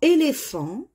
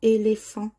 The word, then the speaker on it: éléphant: Et dans éléphant, il y a le H aussi, dans éléphant. Éléphant. Mhm. Mais moi, ça Là, n'entend dans pas le chic. H. Le H, il fait pas de bruit. Non, c'est un H muet.